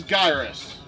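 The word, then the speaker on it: Gyruss: Alright, this is Gyrus. That's how it's pronounced.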